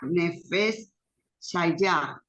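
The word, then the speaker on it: נפש חיה: Así que Mira, sí, entonces esa palabra que, bueno, se sí, pronuncia Nefesh Shayah, en hebreo, ¿verdad?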